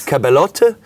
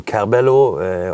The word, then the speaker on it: Caberlot: The Italians Caberlot? call it Caberlot, and the Anglicisms world call it more on Caberlot or things like this.